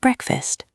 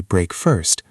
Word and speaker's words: breakfast: The first meal of the day is called breakfast. Listen closely to the pronunciation. Breakfast. It sounds like break, fast. Many beginners say break first, but the correct way is breakfast.